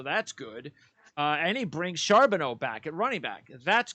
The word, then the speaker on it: Charbonnet: Zach Charbonnet, I believe it's pronounced. Charbonneau.